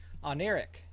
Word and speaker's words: Oneiric: front there we go on Eric is how you say that apparently and and yeah so